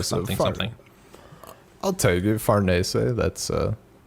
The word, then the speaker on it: Farnese: I looked up like an Italian pronunciation. It's like Farnese, so I've been trying to do that.